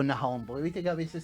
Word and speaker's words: Nahón: Nahón o Nahón, porque viste que a veces se pronuncia, a veces no.